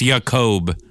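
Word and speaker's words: Jakob: Jacob is 55. What's happening? It's Yakob. Okay.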